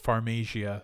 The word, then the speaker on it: Pharmasia: Because when you pronounce it, it's Pharmasia, so it's like a farm in Asia.